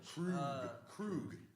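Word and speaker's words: Kruge: Krug. That's how they pronounced it.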